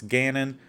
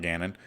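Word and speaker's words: Cannon: Jerry Hughes Al Woods Cam Newton retires Marcus Gannon or Canon not Gannon Lane Taylor Blaine Gabbert Malcolm Butler Matt Barkley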